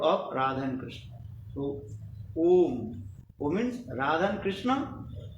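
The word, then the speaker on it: ॐ: Om. Om, there are three syllables there. O, U, Ma.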